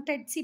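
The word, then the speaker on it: tsetse: सी बहुत सारे अलग अलग इसके प्रोनाउंसिएशन है, हम टेट्सी पढ़ेंगे।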